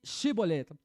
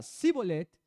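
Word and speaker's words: Shibolet: el 6 ahora pues di chevolette y si él decía cibolette porque no podía pronunciarlo correctamente Entonces le echaban mano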